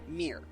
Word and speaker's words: Ymir: Ymir. 2 syllables.